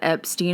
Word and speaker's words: Epstein: However, now that I've learned that Epstein is the proper pronunciation, I'm stuck saying it and I always